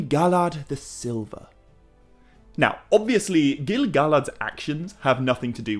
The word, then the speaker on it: Gil-galad: before I go on I anticipate there may be one or two people getting ready to tell me that I'm mispronouncing gilgalad it's not an easy name to get right but I think Gili galad is how Tolkien would have said it my main